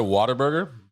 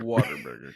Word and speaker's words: Whataburger: So Doughboy said Whataburger. Go ahead, Mateo. What a burger. What a burger! what But a everyone in burger. Texas does pronounce it as Whataburger. Waterburger, because Texans can't Because- speak English.